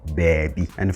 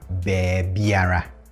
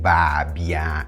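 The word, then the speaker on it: baabiara: To the next indefinite pronoun, we have bebiera. Bebiera. Bebiera. In natural speech, you mostly say this as bebia. Bebia. Bebia. Again, I'm not saying babia, it's bebia. Okay?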